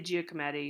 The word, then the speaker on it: Giacometti: So if you want to learn how to pronounce things, so Alberto Giacometti. I say Giacometti. Alberto Giacometti. There are some anglicisms that are okay, but that's a nice tool if you want to know how to say these things.